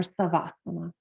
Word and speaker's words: savasana: relaxation position in Sanskrit it is shavasana or savasana depending on your pronunciation and what that means